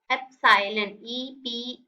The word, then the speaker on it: epsilon: क्या बोला मैंने इस टर्म को, एप्साइलन, EPSILON। इसकी प्रोनाउंसिएशन होती है एप्साइलन।